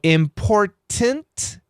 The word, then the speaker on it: important: syllable with an N we stop the T sound we leave the tongue at the T position and we change to an N pronunciation so important I I go import and I stop my tongue I don't say import I stop import now that t position